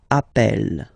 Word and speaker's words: appelle: are the same, then it does change the pronunciation of E. You tend to pronounce it like really open. That's the reason why you pronounce it appel, okay?